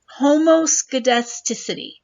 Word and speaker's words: homoscedasticity: word uh it's pronounced homoscedasticity all right so just break it down homo and then put it all together homoscudasticity it actually is